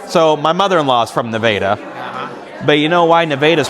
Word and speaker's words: Nevada: So my mother-in-law is from Nevada, but you know why Nevada's pronounced that way, don't you?